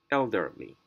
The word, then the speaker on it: elderly: is the first syllable the word ends in er like in this one here the worst ends in er therefore the stress goes on the first syllable elderly manager passively rule number